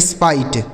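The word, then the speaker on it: spite: आई कर देना है जैसे एस पी आई टी ई तो एस पी से दोस्तों आधा स और पै हो हो गया इस आई टी ई का उच्चारण आपको आई कर देना है लिखा गया स्पाइट क्या पढ़ना है इसे स्पाइट यानी यानी आई टी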